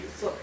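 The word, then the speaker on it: 四: 4 tuh bukan si tapi se.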